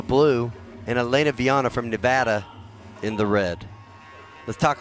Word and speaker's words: Nevada: red from Nevada yes I was schooled that I was saying it wrong by pronouncing it Nevada so from Nevada Elena Vienna